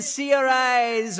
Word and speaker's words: Saoirse: When Seori's Ronan is smiling. Why don't I save you all the embarrassment? Saoirse says that's the correct way to say her name.